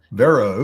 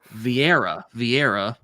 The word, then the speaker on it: Vieira: Maybe except for like Viara. You watch her or Vera? Vero, God damn no, it, not Vero, but God damn it! She has a pronunciation on her Instagram.